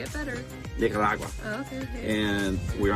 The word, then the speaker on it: Nicaragua: How do you pronounce it? Say it better. Nicaragua.